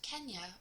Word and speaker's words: Kenya: He also said the word Kenya, which is pronounced Kenya, means the place where there are ostriches.